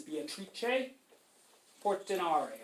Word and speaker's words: Beatrice Portinari: Technically, if you wanted to pronounce her name in an Italian way, her name is Beatrice Portinari.